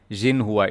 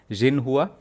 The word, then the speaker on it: Xinhua: Xinhua. You pronounce it with a Z, not X. You pronounce it with a Z. Xinhua.